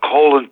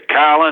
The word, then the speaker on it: Colin: I only read his name before, and I said, "Hey there, Colin, I'm Joe." And he corrected me, and it said it's pronounced Colin.